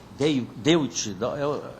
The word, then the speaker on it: Deutsche: Deutsche, é alemão.